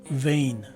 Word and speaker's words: vein: word, and again for the reason that it is a one-syllable word. And lastly, the letters E and I take a combined long letter A sound. A piece of cake, isn't it? So the right way to say this word is vein.